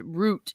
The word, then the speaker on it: route: internet and trampolines true route is pronounced root in britain roots they were rooted